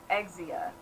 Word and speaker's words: Xia: Zia or is it exia exia exia oh wow that's the way I that's the way I pronounced it but many many people say Z rose with Z wow okay so I